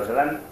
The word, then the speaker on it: Öcalan: Pero sí que es interesante remarcar que desde el encarcelamiento, Öcalan, la C se pronuncia como ya en kurdo, por eso hablamos de Abdullah Öcalan, hace una llamada a